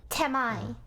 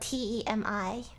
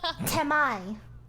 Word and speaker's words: Temi: Temai, and you spell it T-E-M-I. Temi. No, Temai.